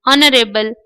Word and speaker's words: honorable: रहे हैं एच से, लेकिन यहाँ एच साइलेंट है, यानी एच का प्रोनाउंसिएशन हम नहीं कर रहे हैं, एच के बाद आए हुए लेटर के साथ हम शुरू हो रहे हैं।